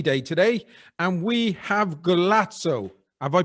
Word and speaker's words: Golazzos: podcast it's qst day today and we have galazzo have i pronounced that right um antonio yes glassos ah because we used to have a thing